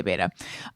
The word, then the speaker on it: betta: And someone wrote in to say it's pronounced beta, to which I say, if you look it up, it's actually pronounced betta, but a lot of people do say beta.